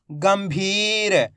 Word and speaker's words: गंभीर: तो मिलके बन जाएगा गंभीर यहां पर अपन ने आधा मा का उच्चारण करा है अधिकतर लोगों ने क्या गलती करी आधा ना का उच्चारण कर दिया तो दोस्तों मैंने बताया